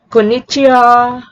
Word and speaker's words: konnichiwa: When ha is used as a particle mark the subject of a sentence, it is pronounced like wa. I'll repeat, if you see the syllable ha, it is pronounced as wa. For example, konnichiwa, konbanna. I'll repeat, konnichiwa is pronounced as konnichiwa, and konbanwa is pronounced